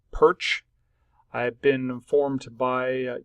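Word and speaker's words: Pyrcz: well first and foremost my last name is pronounced perch I have been informed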